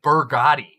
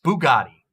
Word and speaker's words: Bugatti: he say it like why does he say burgotti not even british people say burgotti it's bugatti not even like if